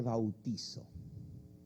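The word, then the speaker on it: βαπτίζω: Y en griego no se dice bautismo, se dice bautizo. Así se dice en griego, bautizo.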